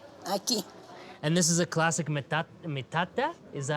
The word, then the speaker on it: metate: And this is a classic metat mata. Is that how you say it? Metata. Mateino. Metate. Metate.